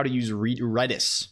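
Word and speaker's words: Redis: how to use re reddis it's apparently count it's apparently pronounced reddis not Reedus I always thought it was Reedus but yeah you can't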